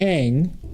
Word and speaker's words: Ingres: And so there is a famous painter named Eng, spelled Ingres.